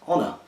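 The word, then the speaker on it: Onur: you with my name it's pronounced honor also means honor in Turkish a did not know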